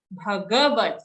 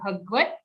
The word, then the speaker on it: Bhagavad: Shrimad Bhagavad, full G sound, not Bhagavad.